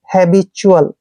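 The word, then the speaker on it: habitual: ऐसे चल ठीक है टल नहीं पढ़ना है चुअल पढ़ना है हैब चुअल ठीक है जब भी टी के बाद यू ए आता है तो टी का उच्चारण च करते हैं हैबिल हैबिल का मतलब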